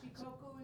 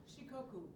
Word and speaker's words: Shikoku: Shikoku is our sister city island. Wow. Thank you for Yeah. And it's pronounced again. Shikoku.